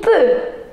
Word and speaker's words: peut: il peut. We are not going to pronounce x, x, t, no.